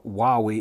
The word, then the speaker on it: Huawei: solace and instead i've replaced it with a hawaii or wowie if you pronounce it that way it's a sun 2000